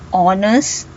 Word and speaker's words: honest: So we have an honest man. So the H is silent.